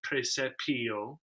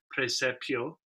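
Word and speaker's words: praesepio: ut animalia viderant dominum oftentimes we would see that final syllable of precepio divided onto two notes as if it were a preset peo um i think in the victoria setting he treats the word that way lord sin chose to condense it into one syllable which would be very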